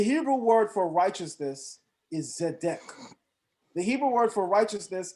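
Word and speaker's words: צדק: say this the hebrew word for righteousness is zedek the hebrew word for righteousness is zedek zeddek is spelled in biblical hebrew zade and then you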